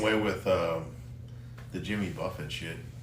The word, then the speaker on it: Jimmy Buffett: __ ] is Jimmy Buffett I said Jimmy Buffett that's how you say it I thought it was Jimmy Buffet so so I was